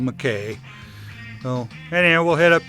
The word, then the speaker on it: McKay: dam there at Mckay, and it's spelled Mckay, but around here it's enunciated Mckay. So if you happen to look it up and you think I'm mispronouncing it, I probably am, but around here it's called Mckay. It's not called Mckay.